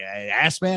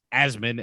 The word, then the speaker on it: Asman: asthma they're like wait ass man how's it pronounced but uh the s is a z and the i in